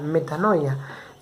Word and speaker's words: metanoia: y se escribe de esta manera y se pronuncia metanoia y esa palabra metanoia tiene un significado en este tiempo para nosotros